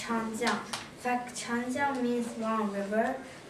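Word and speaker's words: 长江: Yeah, you're almost right, but it's pronounced Changjiang.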